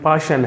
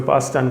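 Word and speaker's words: Paschen: इसकी pronunciation पाशन है, कोई पास्टन कहता है, कोई पासन कहता है, बहरहाल पाशन है।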